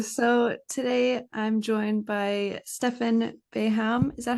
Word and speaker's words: Stefan Beham: how are you so today I'm joined by Stefan baham is that how you pronounce her name yeah exactly okay and you're